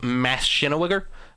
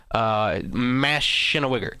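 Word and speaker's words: Maschinengewehr: I think this is him having trouble pronunciating with his fake voice, but it's actually called Maschinenwigger. Maschinenwigger. That's how you pronounce it properly.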